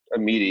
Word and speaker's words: Amidi: Okay, so those of you who don't know Omid and haven't done your homework, Amidi, is your last name pronounced Amidi? Amidi, yeah, it's really confusing for white people.